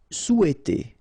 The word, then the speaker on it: souhaiter: Souhaiter. So remember, in French we don't pronounce this H, okay? It doesn't phonetically exist here, so you've got sou, after that you've got e, and then t.